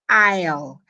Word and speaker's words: aisle: 10 that word is ale the S is completely dead it's silence like it's